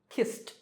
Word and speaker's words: kissed: Number five, the last sound is s, which is unvoiced or voiceless, so kissed, kissed.